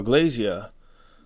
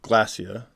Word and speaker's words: Glasya: into the video now Glazier or glacia which is probably the closer pronunciation appears as a 9